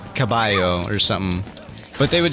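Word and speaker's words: caballo: like what's a good double L's pronounced as like a y you know right so like like even though it's spelled cabalo it's pronounced cabayo or something but they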